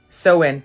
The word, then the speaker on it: Samhain: that that's fine right so in halloween halloween samhain right samhain is is how it's spelt it's pronounced so in and it is it